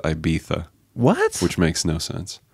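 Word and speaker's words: Ibiza: it be dispelled it's that's how it's spelled but you pronounce it I bisa what which makes no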